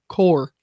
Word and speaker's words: Corps: Army Corps of Corps. Sorry. Silent letters don't make any sense.